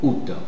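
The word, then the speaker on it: août: en plus l'accent circonflexe mais on prononce ou ou OUT il y a les deux possibilité donc on dira dou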